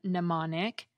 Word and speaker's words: mnemonic: The M is silent in mnemonic, but in the word amnesia, it gets pronounced as the end of the syllable M.